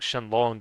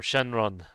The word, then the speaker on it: Shenron: but again like uh the r in Japanese is sometimes pronounced like an l so it' be like shenon. So like so instead of like Shenlong, it's like Shenlon or or Shenron or Shenlon, but it's very close.